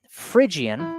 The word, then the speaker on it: Phrygian: The word Phrygian actually starts with a P-H-R-Y-G. So yeah, it's spelled a little differently, but Phrygian.